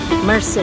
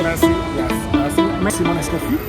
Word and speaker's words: merci: Did I pronounce it right? Mercy. Merci.